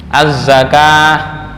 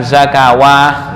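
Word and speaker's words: الزكاة: Semua lafal salat dalam Al-Qur'an itu memakai tulisan wawu secara penulisan. Bacanya shati bukan shawati ya. Azzakah bukan zakawah enggak.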